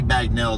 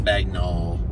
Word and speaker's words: Bagnell: like that well cuz it's really Bagnell Dam it's not bagnol it's Bell bagnol bagnol yeah it's it's debated how it's pronounced at times but uh